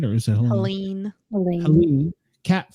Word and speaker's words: Helene: Helena, am I saying it right, or is it Helene? Helene.